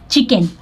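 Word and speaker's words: chicken: चिकन, देखिए सी एच आई को ची पढ़ रहा है, लेकिन सी के को क पढ़ रहा है, ठीक है, तो यहाँ पे सी साइलेंट है, चिकन।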